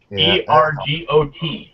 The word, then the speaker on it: ergot: E-R-G-O-T, all right? Yeah. It's pronounced ergot.